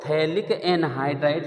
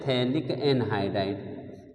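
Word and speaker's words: phthalic anhydride: इसको कहते हैं थैलिक एनहाइड्राइड। थैलिक में बेटा पी साइलेंट होता है।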